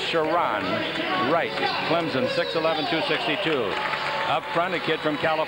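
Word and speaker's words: Sharone Wright: in the middle here is shiron Wright is pronounced shiron Wright Clemson 611 262 up front a kid from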